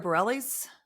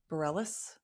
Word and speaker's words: Bareilles: Sarah Bellles, Bareilles, I think is how you say her last name, is an artist we enjoy a lot, but again, not every song.